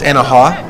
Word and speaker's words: Anahuac: I think the C is silent. It's Anahuac.